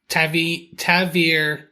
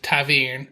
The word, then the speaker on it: ta'veren: Taveran. E-H-N. So that's how they pronounce it. Taveran.